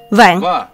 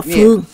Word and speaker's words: Phương: này đọc là gì Vạn Không học chữ này Biết rồi Không đúng chữ này không đọc là vạn chữ này đọc là Phương Phương trong muôn vàng